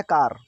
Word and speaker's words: car: ठीक है, CAR, ये लिखा है कार। ठीक है, अब इसको हम बोलेंगे कार, कार, I have a कार।